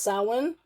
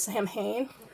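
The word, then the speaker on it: Samhain: yes boys and girls this is called pronounced salmon like a true Pagan I do know that um a lot of people say it's Sam Hayne it is around Halloween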